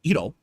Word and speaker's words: gyro: to watch it huge gyro or as they say EO that's how you actually pronounce it like yeah I'm going